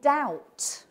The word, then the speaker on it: doubt: now let's think about the silent be in doubt where does that come from any ideas where that comes from well that was actually added to the word by a group of particularly annoying people in the 16th and 17th century called the spelling reformers doubt comes from old French doot and Cha would have said doot okay and he would